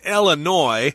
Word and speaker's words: Illinois: So that's the state where it is, Illinois. The S is not pronounced there because it's a French word.